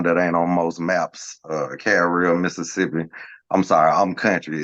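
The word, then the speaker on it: Carriere: Little town that ain't on most maps, Carrier, Mississippi. I'm sorry, I'm country. It's actually pronounced Carrier, Mississippi, but it's Mississippi, so Carrier.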